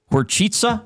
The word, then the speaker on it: Horcica: it's spelled Horcica. Yeah. But it's Horchitsa. Okay, Yeah, so two different C's.